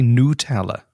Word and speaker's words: Nutella: I don't know why you go Nutella. You don't. Why would you soften the nut?